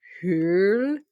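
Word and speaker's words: Høl: Her last name is not actually Hole though. It's H like O with the line through it, L. So it's actually Hurl. I think It's that's pronounced how we like say that.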